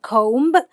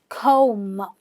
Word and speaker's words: comb: Now, please remember the B is silent. It's not comb, it's comb.